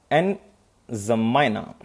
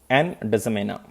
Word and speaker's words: N'Djamena: Capital is N'Djamena. And D is silent basically, or you can pronounce D. N'Djamena.